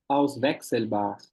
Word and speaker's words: Auswechselbar: É, qual que é a pronúncia daquele aus Westzelbacher? Tipo, a última Uhum. palavra depois de um verbindliche. Auswechselbar.